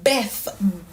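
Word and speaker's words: bèf: So on this E being a grave accent, it is pronounced as like in beef. And this word means a cow, right? So beef, B-E-F.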